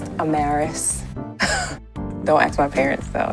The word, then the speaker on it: Amaris: your host danielle i'm maris yes it is pronounced a marist don't ask my parents